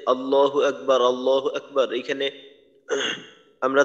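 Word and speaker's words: الله: হয়েছিল যে আল্লাহ এইখানে আল্লাহ শব্দের যে আলিফ হামজার যে উচ্চারণটা আছে এটাকে লম্বা করা যাবে না কোনভাবেই এটাকে লম্বা করা যাবে না এটা লম্বা হইলে অর্থের মাঝে ব্যাপক ধরনের একটা পরিবর্তন চলে আসবে তো এটাও দেখা যায়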